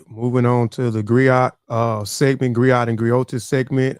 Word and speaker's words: griot: don't know what a Griot and a Griots is, right? So a Griot is a unique to Western Africa. The Griot or Jali professionally encompass many roles. The Griot, pronounced griot, have been referred to